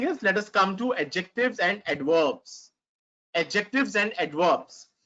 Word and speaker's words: adjective: Adjectives describe a noun. Now, there is one thing I want to tell you, the pronunciation of adjectives. It's not adjective. It's not adjective. It's adjective.